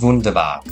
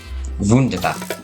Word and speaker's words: wunderbar: You know, Germans pronounce W's as V's. That's why it's wunderbar.